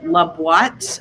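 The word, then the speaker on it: La Boîte: in new york called lubwat it's spelled like l-a-b-o-i-t-e like the the box in french um it's la what a piece um and he's in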